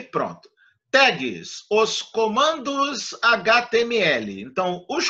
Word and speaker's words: tag: da maria e pronto tags os comandos html então os comandos que são feitos em html são genericamente chamados gtag t a g será tagmas da gente lê tag porque a pronúncia em inglês né milena e salve